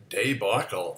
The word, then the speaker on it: debacle: word is good Michael day buckle I've always pronounced it debacle oh look uh that's a duh meaning that's an alternate pronunciation for the first syllable debacle baby back home